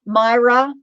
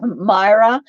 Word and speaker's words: Myra: did get it um myra i remembered at that time myra i'm gonna have to keep reminding myself stop and remind myself how to say it before um i say it if i just blurted out myrna's going to come out um and it was